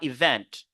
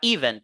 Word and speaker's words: event: bien ici on a event event c'est pas event non event V l'apostrophe il faut toujours